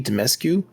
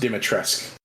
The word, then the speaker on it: Dimitrescu: in the game well first off it's pronounced dimitrisk my my apologies to the fictional character of lady domesque i guess if you read enough watch enough vampire diaries you'll know this the u is silent and there is a t in there lady dimitrescu was over